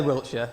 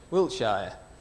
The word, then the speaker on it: Wiltshire: I say Wiltshire, Sting would pronounce it Wiltshire.